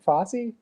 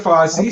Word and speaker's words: Foss: mispronounce your last name is it fosse no i'm i'm foss instead of fosse so yeah that's all